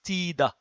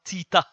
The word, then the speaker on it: Tida: words from Greek origin with the th, they are pronounced th, I mean they are written as th in French, but they are pronounced as t. So, this is Tida. You see, not Tita.